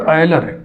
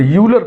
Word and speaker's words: Euler: देख लो भैया, Leonard आयलर, EULER, इसका उच्चारण वही करेंगे जो इंग्लिश के इस शब्द का करेंगे, आयलर का, यही इसका उच्चारण है। बात समझना, इसको बहुत से लोग यूलर पढ़ते हैं, लेकिन मैंने आपको ट्रेनिंग